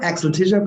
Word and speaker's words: Axel Tischer: Axel Tischer, am I pronouncing Axel that right? Tischer, Axel Tischer, perfect.